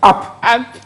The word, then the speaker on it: up: Et puis, en anglais, on dit app. UP, quoi. App.